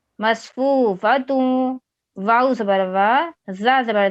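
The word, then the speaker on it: مصفوفة: میم صاد زبر مص فا واو پیش فو مصفو فا زبر فا مصفوفا تا واو دو پیش تو مصفوفتوں واو زبر وا زا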